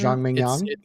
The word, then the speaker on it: Zhang Mingyang: That is the correct pronunciation. Zhang Mingyang.